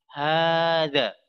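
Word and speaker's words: هذا: Mengucapkannya dengan kita memanjangkan. Hada. Berarti di situ ada alif.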